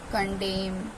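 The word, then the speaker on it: condemn: letter हो जाता है जैसे की ऑम कॉलम कंडेम डम हाइम तो इसमें क्या हमारा एम जो सॉरी एन जो था हमारा साइलेंट है एम के बाद एन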